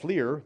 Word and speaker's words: FLIR: There's a company called FLIR, that's how they pronounce it, that sells a thermal camera.